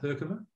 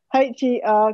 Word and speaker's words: Herkimer: This is a Herkimer diamond.